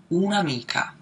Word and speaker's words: un'amica: with the apostrophe, and this is pronounced as one word, un'amica.